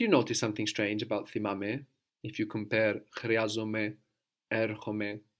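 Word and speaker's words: θυμάμαι: And do you notice something strange about thimame? If you compare chryazome, erchome, thimame. It's ame, not ome. Good, it's ame. And what else do you notice though? Erchome, chryazome, thimame. The accent is on the ame.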